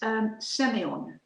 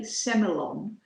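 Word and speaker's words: Sémillon: In Australia, they would probably say Semillon, because that's how it's spelled. It's a grape variety that started off in France, in Bordeaux, and they pronounce it Semillon. But in Australia, of course, it's Semillon.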